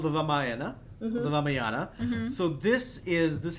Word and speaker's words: Ramayana: me just correct you on that uh actually pronunciation yeah so the one you heard about was called the raaya the ramayana mhm so this is this happens like in